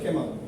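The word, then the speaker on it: Kemal: কামাল Hossain road. Actually এটা কামালও না, কেমালও না, কেমাল আতাতুর্ক এগুলো সবাই মনে করে, মানুষ এটা ভুল করে বলেছে, না ভুল না, অ্যাকচুয়ালি ব্যক্তিটার নাম ছিল কেমাল।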